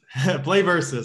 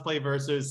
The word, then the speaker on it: PlayVS: it play versus aaron tell us about yourself play versus i'll set i'll settle that debate right now yeah phonetically financially pronounced play versus spelled out play vs so it's weird because